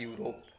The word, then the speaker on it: Europe: की स्पेलिंग लिखी EUROPE, लेकिन जब हम इसको हिंदी में यूरोप लिखेंगे तो सबसे पहला अक्षर बनाएंगे या यज्ञ का या यात्री का। वो वॉवेल नहीं होता है। जो हिंदी अल्फ़ाबेट होती है, हिंदी वर्णमाला होती है, इसमें वो स्वर नहीं होता है, वॉवेल्स नहीं होता है।